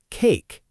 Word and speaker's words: cake: The letter E at the end of a word after a consonant is usually silent, too. But, it changes the sound of the vowel before it. Like cake. We don't say the E at all, but it makes that A sound like A instead of a short a.